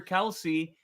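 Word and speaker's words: Kelce: Um, but his dad says that everybody kept saying Kelsey, and eventually he got tired of correcting people, so he just gave up on it.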